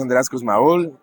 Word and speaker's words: Andreas Kussmaul: is will you andreas hello my name is andreas cosmaol and i'm based in cafe california but i'm